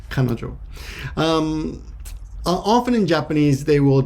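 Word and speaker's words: 彼女: which is woman but when you put these together they take on a completely uh independent pronunciation which is kanojo often in japanese they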